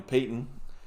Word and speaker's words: Peyton: that that peyton uh even though it looks like patent you know in a way but yeah i guess they say peyton yeah that's how they pronounce it that's on there too